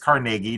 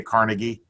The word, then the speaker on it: Carnegie: The Carnegie Library of Pittsburgh in Lawrenceville, and it is pronounced Carnegie. Do not listen to those folks in New York City who say Carnegie.